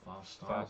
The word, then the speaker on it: Faust Arp: Faust Arp? Faust Arp.